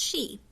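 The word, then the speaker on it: sidhe: says she in Ireland the word she is pronounced she to avoid confusion in the story I refer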